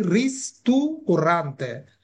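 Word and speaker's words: ristorante: অনেকে এটার উচ্চারণ ঠিক মতো করতে পারে না, এটার উচ্চারণ হবে কি? রিস্তুরান্তে।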